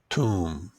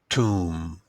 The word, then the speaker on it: tomb: this place is a tomb tomb this word has an interesting pronunciation tomb so the B at the end is silent - so what do